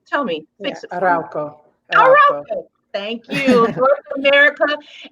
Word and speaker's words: Arauco: Am I pronouncing that right? Tell me. Fix it. Arauco.